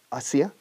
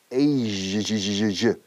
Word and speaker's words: Asia: Asia, fijamos la pronunciación, fíjate, Asia, Asia, Asia. Este sonido je no existe en español, pero es un poco como en francés. Je suis, je sais, je, j'ai vu, je, Asia, Asia, ja, sha, shut.